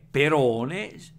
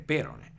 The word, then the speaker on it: perone: in pratica anche se il termine corretto è perone si potrebbe anche dire perone pronunciandola latina perone alla greca perone alla latina tutto chiaro dunque beh